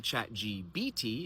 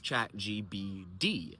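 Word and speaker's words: ChatGPT: And so the reason we say ChatGBT is because we're already in the middle of a voiced phrase.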